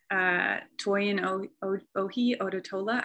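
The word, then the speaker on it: Toyin Ojih Odutola: I also wanted to recommend Toyin Ohi Odotola, I believe is how you pronounce her name.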